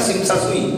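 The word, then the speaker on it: Tsim Sha Tsui: Tersing Tesa Tesui tulisannya, tapi bacanya Sing Sa Sui, dekat Kulon, dekat Jackie Chan, Andy Lau, Stephen Chow main film.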